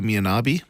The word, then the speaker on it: Mianabi: This is Mianabi. Oh, Mianabi.